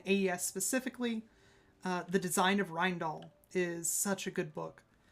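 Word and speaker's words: Rijndael: And again, if you're interested in AES specifically, The Design of Rindal is such a good book.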